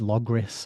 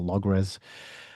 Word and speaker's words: Logres: It's pronounced a few different ways. Logris, I think, is one, but it's spelt here with an S, with an E, so Logres.